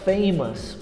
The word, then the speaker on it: famous: A pronúncia correta da palavra famous ou famoso é com us, famous.